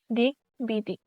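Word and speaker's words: দিগ্বিদিক: বাংলা শব্দে ক এর সাথে ক থেকে সন্ধি সূত্রে আগত গ এর সাথে ব ফলা যুক্ত থাকলে উচ্চারণ অপরিবর্তিত থাকে। যেমন দিক বিদিক, এখানে উচ্চারণ অপরিবর্তিত থাকে, মানে এখানে ব এ উচ্চারণ হবে দিক বিদিক।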